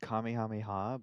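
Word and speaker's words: Kamehameha: to protect some girl it's pronounced Kami hamiha but okay that's like the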